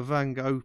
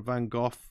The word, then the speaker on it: van Gogh: strokes if you if you look at a van Gogh painting or a van Gogh depending how you pronounce it it's got these really really really